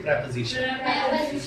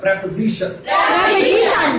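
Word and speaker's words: preposition: उसको हमने कहते हैं प्रेपोजिशन। और प्रोनाउंसिएशन ठीक रखिए इसका, प्रेपोजिशन। आप कहते हो प्रीपोजिशन, वो नहीं है, प्रेपोजिशन।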